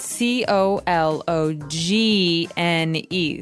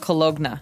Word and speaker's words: cologne: ends with uh it it's spelled c o l o g n e so you don't really say the g it's not cologna right it's cologne and it's something that